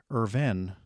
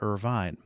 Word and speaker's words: Irvine: took questions about the episode mispronounced Irvin not Irvine and as always until